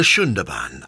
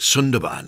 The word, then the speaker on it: Sundarban: the Sundarban as it's pronounced, although you might want to call it Sundarban as spelt.